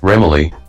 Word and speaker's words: Remele: Remele. Self-voicing disabled. Remele. Hello, Oh. Remele. No. How did you pronounce it? I thought it was Remele. I thought it was Remele too. Remele. Remele. It's like melody.